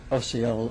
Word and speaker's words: Osceola: I've always wondered how to pronounce that word. Osceola.